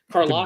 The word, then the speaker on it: Karlaftis: I always get his name wrong, but Karlaftis.